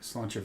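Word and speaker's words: sláinte: a i yeah right slancha is how you say that VA slancha if you Google it m ha a I is v g doesn't make any sense for pronunciation verus spelling okay slancha I guess then let's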